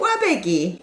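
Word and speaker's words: 꽈배기: Can you, Mom, you know how to say pronounce it? it? Wabegi.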